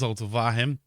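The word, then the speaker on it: Zulte Waregem: our first match against zoltawahem vahem i think it's zoltovahem and vargam va hem i i see things spelt and i'll try and say i'm phonetically and it's vahem i'm pretty sure according to google anyway anyway i only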